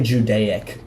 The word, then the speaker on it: Judaic: or Judaism so so you would say judaic if you were talking about like really old times kind of like archaic it's just judaic um but like it's